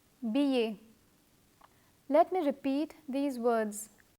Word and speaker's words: billet: Let me repeat the words that have double L and are pronounced as y. Famille, coquillage, billet.